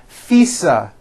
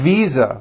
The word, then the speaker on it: visa: a voiced V sound fisa she just received her International faisa correct no I said fisa with an unvoiced F I should have said V Visa with a voiced V